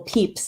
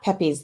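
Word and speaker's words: Pepys: got the reminder that it's samuel peeps and not pepe's the way it's spelled because i always get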